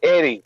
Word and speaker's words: Eddy: is your name Edi? No, it's not Edi, it's Eddie.